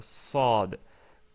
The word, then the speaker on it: صاد: Si vous vous rappelez, la lettre صاد est une lettre qui ressemblait dans sa prononciation à la lettre sin, c'est-à-dire le S, mais c'était un S plus fort.